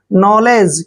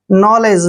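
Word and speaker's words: knowledge: भी वर्ड है और एन से पहले के आता है तो के हमेशा साइलेंट होगा एन का उच्चारण हम न करेंगे और ओ डब्लू का उच्चारण यहां पे ओ की मात्रा करेंगे एल को हमने क्या पढ़ना है ले और ई को ए की मात्रा पढ़ेंगे और जी से पहले अगर डी आता है तो डी को हमेशा साइलेंट रखते यानी डी का उच्चारण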